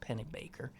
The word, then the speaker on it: Pennebaker: great documentarian da Pennebaker Pennebaker I think it's pronounced pennybaker he has the first film